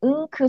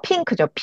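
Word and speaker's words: pink: 그리고 NK n 기억하실게 은크 소리 난다 그래서 분홍색 있죠 분홍색 우리 한국데 흐이 이렇게 하면 요거 어떻게 읽어야 돼요 핑크 어 핑크죠 은크 아니고 핑크 이렇게 발음해 주시면 돼요 그래서 NK 소리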